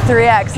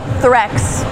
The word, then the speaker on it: 3X: I'm like, that's right, it's 3X, not Threx.